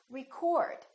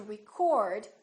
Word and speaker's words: record: this word is pronounced record I'd like to record my voice in that case the O is fully pronounced it's prolonged and it's stressed and this part now